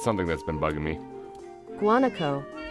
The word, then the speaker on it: guanaco: Guanaco. Guanaco.